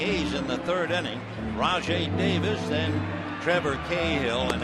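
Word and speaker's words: Rajai: going to Oakland at first name r a j a i pronounced Raj and it means king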